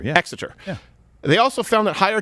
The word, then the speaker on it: Exeter: the university of cambridge and uh is it pronounced exeter exester yeah exeter they also found that higher testosterone levels increase